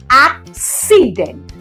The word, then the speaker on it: accident: to the first C this first C is having a consonant after it and that is why it will take the hard sound that is and that